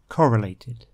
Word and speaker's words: correlated: in the example sentence the stress for that word is on the first syllable correlated the noun form is